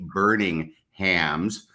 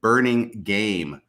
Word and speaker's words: Burningham: And I was so excited about it that I totally mispronounced Kay Burningham's last name. Apparently, I said Burning Game throughout.